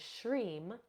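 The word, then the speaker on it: shrim: obstacles from your path another seed sound is sham and it is U spelled s HR e m or or s h r i m depending on um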